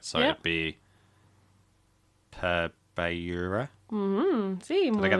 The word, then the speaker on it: beure: So, it'd be per beure.